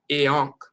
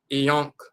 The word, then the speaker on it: Iankh: as an A, but they put the dot over the A. That is pronounced I. So instead of Ankh, you have I and then Ankh. I and Ankh together is IANKH, IANKH, IANKH.